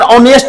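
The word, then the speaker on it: honest: लेकिन यहीं पे अगर ऑनेस्ट मैन रहे, ऑनेस्ट मैन रहे, तो आप यकीन मानिए कि इसका उच्चारण औ से शुरू हुआ है, और चूंकि पीछे नाउन है इसीलिए यहां पर एन लगेगा।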